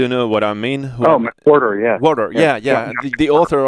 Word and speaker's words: McWhorter: this guy, I don't know, how do you pronounce this name? John McWhorter? Do you know what I mean? McWhorter, yeah.